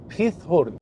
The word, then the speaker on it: Giethoorn: على القريه اهي اسمها خيث هورن هنا حرف الجي بيتنطق خ او خاه كده فيها ه فهي اسمها بتتكتب جيث هورن ولكن بتتنطق خيث هورن وهي معناها قرون الماعز